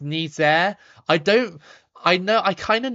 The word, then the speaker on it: Niger: And of course, Niger is the English way of saying it. But I know it's pronounced Nizer.